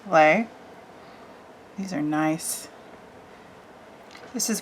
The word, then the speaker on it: Les: This is Lay. L-E-S, Lay.